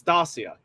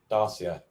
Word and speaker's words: Dacia: Apparently, we were both wrong. It's Dacia. Dacia.